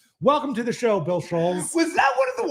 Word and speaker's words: Schulz: You pronounced the first name wrong, too. It's Bull Schulz.